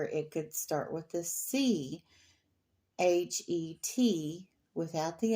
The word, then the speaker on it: Chet: at it and you say, though, it's Chet. Well, Hanukkah is the same way. A lot of people say Chanukah, because sometimes the C is added in front of the H. And we don't say it like ch in English, or they don't say